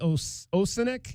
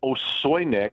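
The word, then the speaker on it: Osojnik: And another big man in Arnie, is it Arnie Osenik? Is that how you pronounce that? It's Osoynik. Osoynik?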